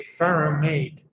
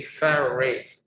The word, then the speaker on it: ferrate: Now you have to add the suffix "ate," but because it's difficult to pronounce, you don't say ferrumate, you say ferrate.